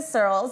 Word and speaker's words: Surls: And I'm Surls. It's spelled like curls, but with an S, just to keep it really simple for everybody.